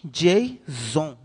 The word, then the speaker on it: JSON: Aqui fala, ó, a pronúncia se diz JSON.